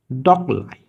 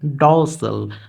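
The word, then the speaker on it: docile: হচ্ছে এখানে verb word ডকলাই বাট এটার প্রকৃত উচ্চারণ যদি আমরা বলি তাহলে হবে ডসেল তাহলে ডসেল দ্বারা আসলে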